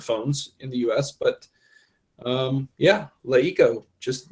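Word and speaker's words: LeEco: We're going to move on to the hot sheet where we're going to talk about Leiko. Did I say it right that time, David? You did. Leiko.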